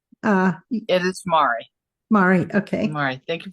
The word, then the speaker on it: Mari: Is it Mari or Mary? It is Mari.